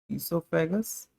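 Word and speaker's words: oesophagus: अच्छा कहीं पर ओ ई एस है इससोफेगस कहीं पर जो है सिर्फ ई से एस लिखा हुआ है तो इसमें ओ साइलेंट रहता है हम स्ट्रक्चर की बात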